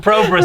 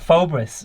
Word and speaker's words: Phobos: He's the Probus model. Is that how you pronounce it?